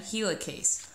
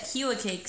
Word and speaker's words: helicase: gonna be the enzyme helicase notice that HeLa Cakes sounds like the word helix like DNA double helix it is in charge